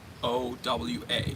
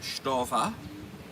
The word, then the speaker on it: Stowa: Stowa. Now in German, It's pronounced Stova.